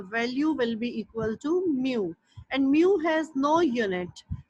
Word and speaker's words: mu: This is the symbol mu m e w pronounce it as mu and mu is is the ratio between two forces.